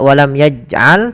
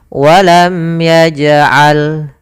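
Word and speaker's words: ولم يجعل: di sini warna ungu, itu hukum bacaannya qalqalah, yaitu suara jimnya dipantulkan, tidak walam yaj'al tapi dia ada pantulannya, walam yaj'al.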